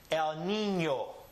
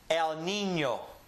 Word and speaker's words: El Niño: The N sound, which is ni, and here the Ñ sound with this ñ, ño. Ni, ño. El Niño. Repeat after me. El Niño.